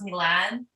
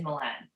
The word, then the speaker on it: Milan: did i get it technically it's pronounced milan but because i'm in canada most people don't know how to pronounce it properly some people still don't know how to say my name correctly um but the easiest way i've explained it to people since i've been like since i was young is milan milan okay okay so so